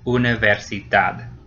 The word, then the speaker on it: universidad: It ends in a D. So in that case, the very last syllable gets stressed. Universidad.